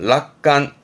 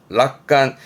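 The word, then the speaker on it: 楽観: 발음은 락간, 락간.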